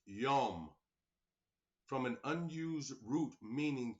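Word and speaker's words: יום: It says, pronounced yom, from an unused root meaning to be hot, a day, as the warm hours, whether literally from sunrise to sunset.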